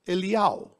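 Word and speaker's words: אליהו: Then, Yod Hey Vav, which spells Iyao, because in Hebrew, Elijah is pronounced Eliyahu.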